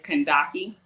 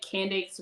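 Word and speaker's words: Kandake: It does derive from there, but the original context of the word is Kandaki. Okay. But I feel like Candace rolls off the tongue a little easier. And American people, we can pronounce that a little bit better.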